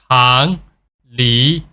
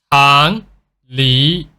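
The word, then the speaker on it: 长离: So it's gonna pronounce like Chang Li, Chang Li, Changli. So when you say the word Li, you have to drag it to the higher pitches.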